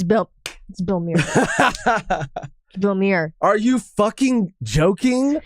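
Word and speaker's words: Bellemere: He didn't say Belmere. He called her Molly Mere.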